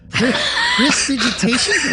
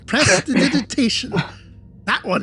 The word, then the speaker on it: prestidigitation: Prestidigitation? Did I say it right? No. Prestidigitation? Prestidigitation? You so annoying! Prestidigitation. That one.